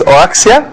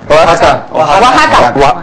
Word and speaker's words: Oaxaca: Saludos desde, how you pronounce this? Oaxia? Oaxaca. With an O in front?